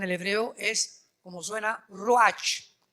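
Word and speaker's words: ruach: hebreo es como suena rach r Raúl u a c h pero la ch en el hebreo se pronuncia como j r es la palabra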